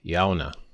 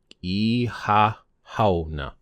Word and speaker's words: Shamhna: Now, the October 31st, there's actually a word for that in Irish as well, and that is Shona. Shona. Shona.